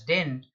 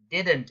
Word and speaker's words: didn't: don't pronounce it as didn't didn't is the right pronunciation the second D is not silent now how to deal